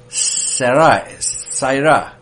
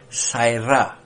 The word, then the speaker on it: sara: hebrew root word is saira it's spelled s-a-r-a is pronounced like having a e y between a and r saira and it means i